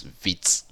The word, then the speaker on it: Vite: way of um installing react now which is vit okay vit is almost spelled as as v but pronunciation is vit okay so now if you